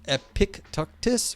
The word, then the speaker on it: Epictetus: Greeks so it's like Epictetus um pronounced epic tactus really epic Epictetus epic